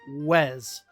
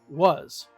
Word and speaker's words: was: to the store no we might say was but we wouldn't say Wes okay we would say was okay so already three